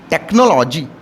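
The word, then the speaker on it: technology: आपने और पढ़ा है टीई सी एच एन ओ एल ओ जीी वाई टेक्नोलॉजी क्या पढ़ाया आपने टेक्नोलॉजी तो टेक्नोलॉजी में देखिए सी के बाद एच आया है फिर एच साइलेंट है इसको आप क्या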